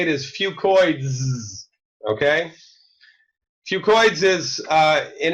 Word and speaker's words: Fucoidz: say that 10 times fast I call a few coins II because that's easier to pronounce but really the correct way to say it is few coins okay few coins is an encapsulated few COI